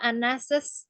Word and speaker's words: Anas's: Tapi cara bacanya adalah Anas's store.